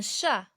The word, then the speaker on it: chat: Un chat. Ici, la lettre qui se ne prononce pas, c'est la lettre T.